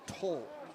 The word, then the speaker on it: Towle: Yeah, the name is Toll.